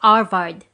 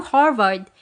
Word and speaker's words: Harvard: You know, Arvad, I think you call it, he asked, pronouncing it Arvard. Since the H is always silent in Spanish. Oh yes indeed, I know Harvard.